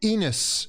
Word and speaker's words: Enos: But clearly Stan Kroenke, Enos, which rhymes with penis, yeah, is clearly way too busy thinking about his NFL success with the, what is it, the Rimmers, yeah?